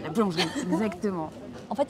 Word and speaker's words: boulangerie: La boulangerie. La boulangerie, exactement. En fait, il y a beaucoup de E C'est les E qui sont souvent... qu'on saute. Enfin, ils sautent, on ne les prononce pas.